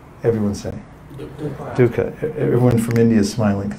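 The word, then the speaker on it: दुःख: the opposite word can you see that that's pronounced dukkha everyone sitting dukkha everyone from India smiling and saying all these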